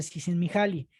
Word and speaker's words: Csikszentmihalyi: fecha todavía no lo aprendo, pero así se pronuncia, Csikszentmihalyi.